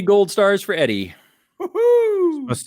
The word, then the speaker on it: Eddie: Eddie, are you ready? I'm ready. My name rhymes with it. Ready, Eddie.